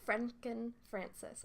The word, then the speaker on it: Frenken-Francis: do I say it what is your last Franken Frances not Franken Franken France K the Frances is